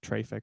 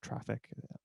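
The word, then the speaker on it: Traefik: There's a number of them, Nginx, or there's one called Traffic or Traffic.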